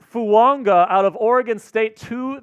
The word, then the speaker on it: Fuaga: So all of the pronunciation guides Say Fuaga. say Fuaga, Taliese Fuaga. Yeah, Taliese. And then at a Senior Bowl interview, he's like, no, it's Taliese Fuaga.